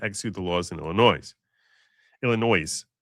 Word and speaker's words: Illinois: Illinois, which is the proper phr way of pronouncing that state.